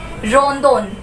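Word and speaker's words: ロンドン: रो न दो न, रोंदोन। तो ल साउंड हटके यहाँ र साउंड आ जाएगा, प्लस यहाँ पे हमें एक और पॉइंट मिलता है द का, ड कट होके यहाँ हो जाएगा द।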